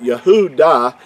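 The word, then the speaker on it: יהודה: last session Yahoo da the last letter in Yahoo da gives us the it's it's the this letter here the the hey or the ha and it's pronounced when you when you pronounce it we all know that yahoodah is the way that that last letter is pronounced is just pronounced a little differently if it's at the end of a word it really actually has the ah sound so it gives us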